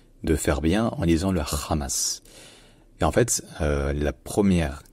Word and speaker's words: Hamas: la deuxième syllabe, la deuxième voyelle qui est prononcée de manière plus longue. Donc c'est le Hamas, Hamas, Hamas, Hamas.